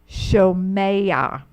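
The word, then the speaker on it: שֹׁמֵעַ: So you have a furtive patak there. That's why the methag is under the mem, showing that that syllable is accented. Shomeya.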